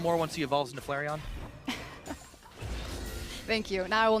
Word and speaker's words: Flareon: maybe a little more once he evolved into Flareon thank you now I will never mispronounce it again I've saved it there we